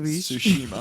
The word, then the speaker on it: Tsushima: Tsushima, I maybe.